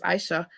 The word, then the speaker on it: Aisha: your name um Aisha it's not Asia Aisha IA a i s h a correct yeah your last